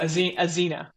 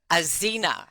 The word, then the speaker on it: Axena: I'm going to cut this bit because I just want to ask you how to properly pronounce the name of the company. Um Azena. Azena.